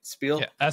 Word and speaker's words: Spiel: another video but uh at Spiel right that's how you say it Spiel SPI uh big uh